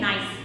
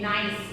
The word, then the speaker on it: Gneiss: इसको कैसे प्रोनाउंसिएट करते हैं? नाइस। व्हाट वी से? नाइस।